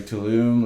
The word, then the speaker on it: Tulum: Is it Tulum? Is that how you pronounce it?